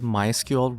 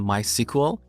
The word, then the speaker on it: MySQL: as a software product developers of this product prefer to call it MySQL rather than my sequel but they don't mind if we call it my sequel in this course I'll